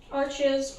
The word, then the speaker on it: Arches: Arches, or you want to be pronounce it in the correct French. There's arche paper, and okay, these ones are going to be a bit awkward, but that's all right.